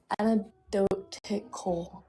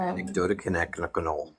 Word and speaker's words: anecdotal: I anecdotal anidotic, right? Am I saying it right now? No. The C is much sooner in the word anecdotal. Bingo. Thank you. Um anecdotal um replying